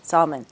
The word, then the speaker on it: Salman: How do you say your last name? Salman. Salman is back. I say Salman.